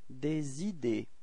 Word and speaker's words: des idées: Des idées. Repeat. Des idées. Okay, so final E and final S are not pronounced as well.